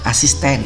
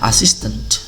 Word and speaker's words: assistant: Kalau bahasa Indonesia dibilang asisten gitu ya, asisten. Padahal bacanya adalah assistant ya, assistant. Kemudian ance, ans ya, ini membentuk kata benda ya.